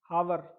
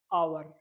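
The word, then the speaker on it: hour: य क्या लिखा है हावर आप लोग यही पढ़ोगे ना हावर लेकिन बट ये क्या है आवर H will be silent H य साइलेंट रहेगा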